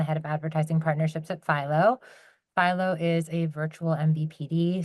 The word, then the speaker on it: Philo: Okay, and you'll note that it's pronounced Philo. I hear many people keep calling it Philo, so I know that that's the thing.